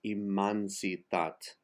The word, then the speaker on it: Immensitat: Immensitat is immansitat.